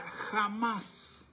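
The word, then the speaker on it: חמס: dice que la violencia en hebreo se pronuncia jamás o jamas y usted sabe que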